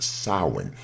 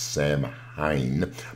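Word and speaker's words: Samhain: however it is pronounced Souren the way it is spelled might suggest that it is pronounced Sam Hine but actually it is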